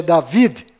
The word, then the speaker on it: David: m mudo no final Rei Davi que na verdade é David com d mudo no final e Jacó que na